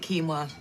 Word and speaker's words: quinoa: You pronounce it quinoa.